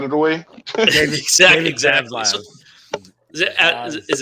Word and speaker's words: Zaslav: Zaslav. So is it Zavlog? I forgot how to Zavlov. Yeah, pronounce it. Zaslav.